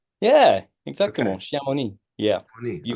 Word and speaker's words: Chamonix: Shamoni. Yeah, exactly. Shamoni.